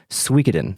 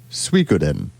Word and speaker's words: Suikoden: speaker on the uh the wikipedia page it says suikoden suikoden and i believe that is the other common pronunciation of this and probably closest to the japanese okay fake net how